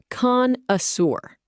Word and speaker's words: connoisseur: Connoisseur, pronounced con-uh-seur.